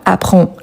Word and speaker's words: apprend: On a le D également qu'on ne le prononce pas. Apprend.